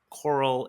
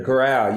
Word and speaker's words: Corral: about the Real Estate Coral Investor Wow. Yeah. Network. Did I pronounce it correctly? The corral, yes, sir.